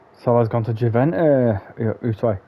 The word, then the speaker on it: Juventus: It's so I've gone to Juventus. Sorry, Juventus. But I said Juventus because I like to pronounce the J.